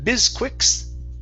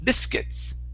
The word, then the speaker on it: biscuits: Instead of bisquicks, okay, this is biscuits.